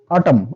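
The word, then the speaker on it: autumn: কোন ওয়ার্ডে এম এন একসাথে থাকলে এন এর উচ্চারণটা হবে না যেমন এন এন এন এন অটম এটাকে আমরা কেউ অটমন বলবো না অটম অটম মানে হচ্ছে শরৎকাল এটা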